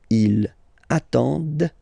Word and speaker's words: ils attendent: form, ENT, but then you don't pronounce them. Ils attendent, de. Okay, so remember you get to pronounce this, d. The D at the end, okay?